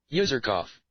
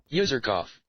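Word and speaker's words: Userkaf: Okay, how to pronounce user cuff. Okay. So, let's hear it. User cough. User cough.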